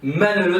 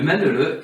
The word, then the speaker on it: Manele: Il peut avoir plusieurs prononciations avec un seul ou deux N, on peut l'appeler Manala, par exemple dans certaines régions, ou avoir d'autres noms. Mais sa spécificité est qu'il